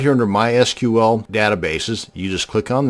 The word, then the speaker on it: MySQL: It is pronounced MySQL.